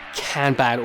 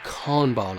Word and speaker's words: Kanban: in at number five is Kanban or Kanban I think is the correct pronunciation and Kanban is a